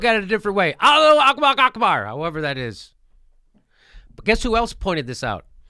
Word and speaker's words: Allahu Akbar: He yelled, Allahu Akbar.